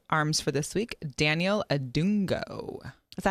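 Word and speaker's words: Adongo: I have one of my arms for this week, Daniel Adungo.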